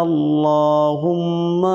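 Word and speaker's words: اللهم: হবে সুব হানাকা আল্লাহুম্মা আল্লাহুম্মা বলা যাবে না বলতে হবে আল্লাহ মোটা করে আল্লাহুম্মা ওয়াবিহামদিকা এখানে আছে ওয়াবিহামদিকা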